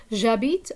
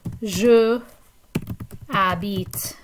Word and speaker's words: j'habite: You notice that we don't say je habite à Greenwood. Okay, because the and the silent h kind of cancel each other out, there's no reason for us to write both of them. So it ends up getting combined like into a contraction.